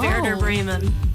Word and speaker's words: Werder Bremen: Did I murder the Frauen Bundesliga? You absolutely butchered it, but that's okay. Everyone does. Okay, how was it? It's the Frauen Bundesliga, Werder Bremen.